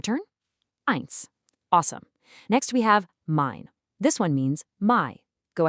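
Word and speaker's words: mein: The key takeaway here is simple. E. I. Always always sounds like I.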